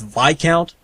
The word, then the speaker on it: Viscount: believe actually to be technically correct the proper pronunciation is VI count but the game calls it Viscount so okay